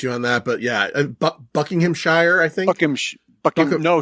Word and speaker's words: Buckinghamshire: He would definitely correct you on that, but Buckinghamshire, I think. No, Shire is out. Right. Shear is in.